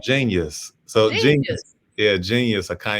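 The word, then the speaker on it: jeen-yuhs: So JEEN hyphen YUHS. So it's spelled like it would be in the dictionary, you know.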